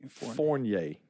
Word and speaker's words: Fournier: Yeah, and I saw how to pronounce that. It is Foreigner. actually Fournier. Fournier. Fournier. Fournier. Fournier. But any way you say it's correct.